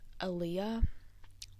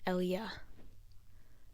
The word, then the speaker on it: Ellia: It's really not that hard cuz everyone always pronounces it as Aaliyah. You are literally so dumb. It's literally Ellie with an A at the end. Ellia. Eli, not Aaliyah.